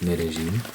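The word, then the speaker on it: Medellín: like Bogota and Medellin, some people say Medellin, but apparently it's Medellin. That's how a lot of people, that's how a lot of the locals say it, Medellin.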